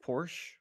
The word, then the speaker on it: Porsche: is it it just Porsche no the man's name is was Porsche he pronounced it Porsche I'm thinking the car